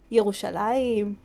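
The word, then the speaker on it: ירושלים: Like the actual names are Yerushalayim, Tel Aviv.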